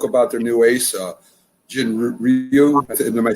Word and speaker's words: Ryu: And I don't know if you spoke about their new ace, Jin Ryu. Am I saying it right, Jim? In Ryu, yep.